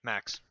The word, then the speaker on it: Mahcks: Is that how you say it? Yeah, Max.